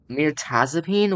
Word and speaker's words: Mirtazapine: Google hold on mapine Mirtazapine what that's how you pronounce it Meraz I mean that makes sense but still that makes sense but still at the same time M Taz upine okay I guess isn't